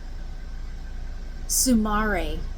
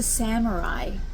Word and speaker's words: samurai: I was using um, sumare. I think I said sumare. It's a samurai.